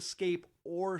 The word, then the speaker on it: Scape Ore: So we went on there, and we did learn that it's called the Scape Ore Swamp, but it was really in the old days called the Scape, rhymes with ore and refers to ladies of the evening who plied their trade out there.